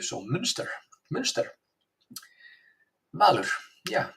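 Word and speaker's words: Münster: The U you pronounce like Ö, so Munster. Valur, yeah, Munster. Manuel, Munster.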